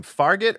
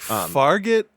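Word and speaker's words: Fargeat: she's incredible in this so it looks like farget or fargate I know it's not spelled like gate but farget G farget we go with farget G um Coral I directed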